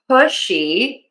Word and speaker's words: pushy: Um, you want to make sure that when you're saying pushy that you use that sh and you round those lips.